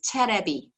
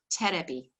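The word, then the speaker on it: テレビ: in japanese it is terebi terebi now a b in japanese is because they don't have a v sound so elevation yes it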